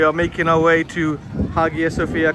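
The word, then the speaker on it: Hagia Sophia: So, we are making our way to Haga Sophia, correctly pronounced apparently as Aya Sophia, if that's the pronunciation.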